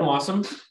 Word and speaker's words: Wassum: So me, I'm Wassum, rhymes with awesome.